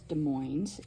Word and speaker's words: Des Moines: I live in is Des Moines and yes you do pronounce the s in this case and this is just